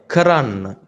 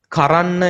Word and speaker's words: කරන්න: சரி, இப்ப நான் உங்களுக்கு சொல்ல வந்த விஷயம் வந்து கரான்ன, கரான்ன. ஃபர்ஸ்டா நீங்க இது சரியா ப்ரொனவுன்ஸ் பண்ணணும். கரான்ன என்று சொல்லாதீங்க. கரான்ன, கரான்ன அப்படி ஒரு வேர்ட் இல்ல. க ரன்ன, க ரன்ன.